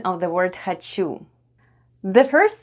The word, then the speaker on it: хочу: Next we have О /o/ and О /o/ is unstressed in the word ХОЧУ /hhachu/ and is pronounced as /a/ - /hhachu/.